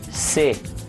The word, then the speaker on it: cê: instead of saying você, here in Brazil it's like common almost everywhere to cut the first syllable of this word and just say se.